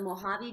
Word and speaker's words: Mojave: pronounce that the mojave the j is like an h yeah so it's a it's the mojave desert in california it